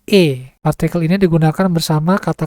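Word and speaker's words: へ: berfungsi untuk menunjukkan arah partikel ini ditulis he tetapi dibacanya e partikel ini digunakan bersama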